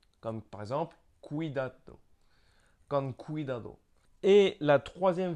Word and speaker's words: cuidado: Il y a une autre façon de prononcer le C qui est le K en fait, comme on prononce un K avec notre C à la française.